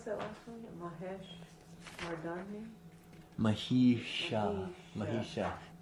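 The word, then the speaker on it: महिष: Mahisha. The S that looks like a backwards P with a line through it. Okay. Mahisha.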